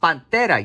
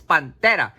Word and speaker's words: Pantera: We got some Pantera, or how they should be pronounced, Pantera. Yes, I'm saying in Spanish, cabrones. It's Pantera.